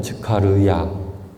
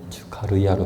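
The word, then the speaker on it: 즈카르야: 이름이 예전에 즉가리아였잖아요. 이렇게 했었는데 이제 원어 발음을 교회에서 채택하기로 했기 때문에 이젠 그때 당시에 진짜 그 이름을 한글로 불러 버리는 거죠. 그래서 이름이 조금씩 바뀌었어요. 이름이 어렵죠. 즉카르야. 예. 츠가르아로 바뀌었습니다.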